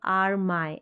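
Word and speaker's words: army: माय पढ़ते हैं, तो आर माय ऐसे नहीं पढ़ सकते इसको, आर मी। लास्ट में ई करके, वाई जब लास्ट में आएगा मोस्टली अधिकतर स्पेलिंग में ई साउंड देता है, आर्मी, और कई बार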